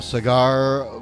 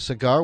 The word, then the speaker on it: Saagar: the otc all right cigar welcome to the show how are you good michael thanks for having me my pleasure am i pronouncing your name correctly it's uh it's pronounced sagar sagar thanks for helping me